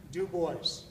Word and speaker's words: Du Bois: own hand from the grave tells you to pronounce his name you as a new boys and boy do boys when we show this piece to people ordinarily